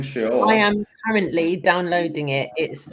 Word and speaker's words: Sheol: Well, he's pronouncing it very nicely. You see, Bart, he's saying Sheol.